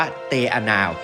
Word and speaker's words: Te Anau: ชื่อ ว่า เมือง เตนา หรือ ถ้า ออก เสียง แบบ ภาษา เมารี นี่ จะ ออก ว่า เตานา ที่ แปล ว่า สถาน